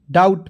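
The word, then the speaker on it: doubt: और बी और टी तो बी यहां पे साइलेंट करेंगे और टी जोड़ देंगे तो डी ओ यू बी टी डाउट पढ़ेंगे डाउट नहीं पढ़ेंगे ठीक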